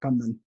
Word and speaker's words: Kannan: I'm gonna say with the Indian pronunciation, Kannan.